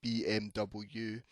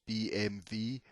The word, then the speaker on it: BMW: because about bmw and because it's a german company it won't be the english pronunciation of the alphabet so it's not going to be bmw it's actually pronounced bmv although i'm not having